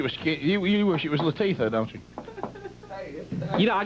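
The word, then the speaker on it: Latifah: say but is La what did I say latia it is Latifa okay you wish it was you wish it was Latifa don't you you know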